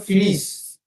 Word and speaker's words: finis: Yes, and the pronunciation will be je fini. Mm. Okay, that S will be silent.